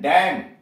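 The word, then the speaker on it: damn: डी ए एम एन, डैम, बद्दुआ देना, डैम। अब ये टी साइलेंट कहाँ कहाँ, एच ए एस टी ई एन, हेसन, जल्दी करना।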